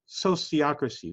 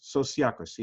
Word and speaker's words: sociocracy: Even the word sociocracy, where it comes from is socios, those who associate together, and ocracy, governance. So governance by the socios, sociocracy. It's the same kind of pronunciation as sociology.